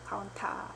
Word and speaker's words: COUNTA: 있는데요 디카운트 카운터의 차이점은 카운트와 카운터 카운트 카운타 a 들어가면 타라고 읽겠습니다 DC unta 있데요 자